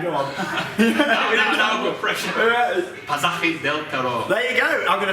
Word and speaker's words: Pasaje del Terror: And the exoticness of the name, the uniqueness, that adds to it, and the correct pronunciation is Pasaje del Terror.